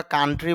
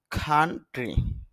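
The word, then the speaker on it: country: যদিও আমরা কান্ট্রি বলি তবে শুদ্ধ উচ্চারণ হল খান্ট্রি।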